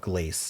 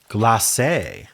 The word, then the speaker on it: glacé: I'm going to look up glace, define glace. Oh, of fruit having a glossy surface due to preservation of sugar. It's gloss. Wait, how? I never understand the pronunciation guide. Glacé. Ah, glacé.